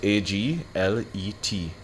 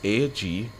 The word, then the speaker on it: aglet: The word of the day is spelled A-G-L-E-T. That's A-G-L-E-T. Aglet.